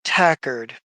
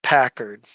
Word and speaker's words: Tackard: After all, you're looking for someone I personally have no interest in because you're looking for a Gail Rad Tackard, not Packard. You must have heard the name wrong.